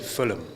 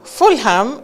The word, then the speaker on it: Fulham: The H is silent, so yes, I believe you did. Fulham. But So initially I said Fulham, and then Tom was like, no, the H is actually silent.